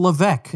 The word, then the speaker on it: Levesque: to talk to Ryan Levesque and by the way if you look at his last name there's an S in there but it's silent so I don't want